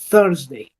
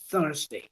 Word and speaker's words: thursday: por acá el sonido th ese sonido se representa con este símbolo fonético cierto ese símbolo es el símbolo deta sí Y ese sonido se hace dejando fluir el aire a través de mi lengua y los dientes superiores cierto los dientes de arriba y mi lengua es